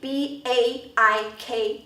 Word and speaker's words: baik: 的，就是这边的 baik B-A-I-K 啊，这里其实是 2